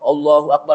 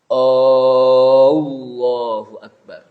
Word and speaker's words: Allahu Akbar: takbiratul ihram itu hendaknya jangan sampai orang membacanya dengan anye panjang. Allahu Akbar. Kenapa? Karena kalau Allahu Akbar bacaannya salah, takbiratul ihramnya apa? Nggak sah. Karena artinya Allah, apakah Allah Maha Besar? Dengan A yang panjang.